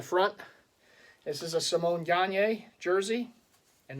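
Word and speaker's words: Gagné: this is a Samoan gagne jersey and that is house names pronounced not gagney Gagne this was a custom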